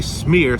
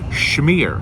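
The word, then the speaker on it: schmear: cheese on your bagel don't say smear say shmear shmear that's right okay I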